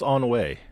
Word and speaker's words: ennui: pronounced on way. You guys were confusing me. Ennui.